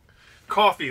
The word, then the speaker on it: Coffey: Coffee, like the drink, but not spelled the same.